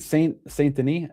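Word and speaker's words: Saint Denis: So three to um Saint Saint Deni, that's how you say his name.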